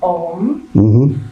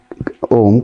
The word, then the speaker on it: Om: Now look, although the Om consists of three syllables, A, U and Ma. I have noticed that some people give too much attention to the first A. You start Om and they're going on shouting Ah. You don't know when they're going to shut their mouth. So while it is three syllables, you do it, that A is only In fact, from our point of view, we give more stress to So even if